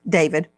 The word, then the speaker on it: d4vd: Joanna, the family of D4B, David Anthony Burke, pronounced as David, has been subpoenaed.